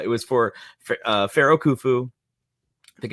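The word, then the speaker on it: Khufu: But, uh, it was for, uh, Pharaoh Kufu. I think it's how you pronounce it.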